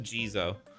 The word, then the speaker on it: Jizo: quick uh pronounce try saying okay it is just gizo okay I want I